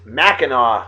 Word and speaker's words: Mackinac: suspension bridge opened in though it's spelled mackinac it's mackinaw straits the mackinaw bridge in michigan and